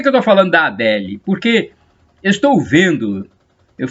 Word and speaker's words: Adele: mulher famosa cantora adele tem gente falar dell a dell não concordo com essa pronúncia não olha que eu estudei inglês a gente mais falar del parece que você tá falando nome de um homem adele eu vou falar